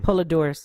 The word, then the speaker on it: Poledouris: Goldsmith james owner and bass opal I can't pronounce that name poledouris thank you I've had too much one I